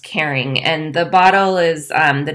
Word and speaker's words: Karyn: discovered that it's pronounced caring it's caring Grossman and she did kind of a play on her name so it's supposed to be pronounced caring and the bottle is